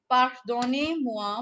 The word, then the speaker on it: pardonnez-moi: Ma'am, we will pronounce Pardonnez. this one. It is pardonnez-moi, monsieur.